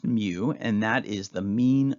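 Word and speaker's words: μ: So a mu, looks like a U with a little tail on the left side, is pronounced mu, and that is the mean of the population.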